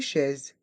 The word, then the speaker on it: chaises: pronon prononce e et le S se prononce comme un Z car il est entre deux voyelles ici le I et